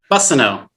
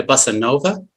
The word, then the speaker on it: Bussineau: Bussineau. Bussineau. Like a bus. Bussineau. Yeah, Bussineau. Okay. A lot of people call me, I had a lot of people call me Bussinova.